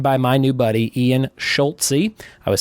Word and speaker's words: Schulze: He says it's pronounced like Schult-Z. In your head, throw a T before the Z, and then pronounce the Z like the letter.